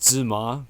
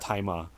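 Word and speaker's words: Tzi Ma: And the main character in the present day, the dad, played by Tai Ma. His name is spelled Tzai Ma. I always thought it was Zima, but it's actually pronounced Tai Ma.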